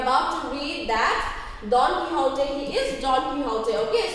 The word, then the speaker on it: Quixote: So, Quixote, it is pronounced as Quixote.